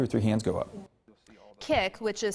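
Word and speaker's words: Kik: And his response for us was an app called Kick.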